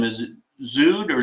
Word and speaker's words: Zewde: Is it Zewde or Zewde? Zewde, like Zodiac, without the act.